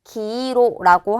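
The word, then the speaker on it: 黄色: 황자에다가 색깔을 합쳐서 황색, 기로라고 하는 게 노란색이 될 거예요.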